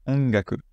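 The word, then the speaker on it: 音楽: Par exemple, si vous essayez de prononcer ce mot, ça va pas être ongaku, ça va être ongaku, avec le ga qui va passer par le nez, du coup.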